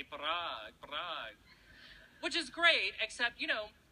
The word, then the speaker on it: Parag: colleague, and that is he pronounces my name authentically. Now, not correctly, but I mean authentically, like the Indian way. So my name at home is Parag.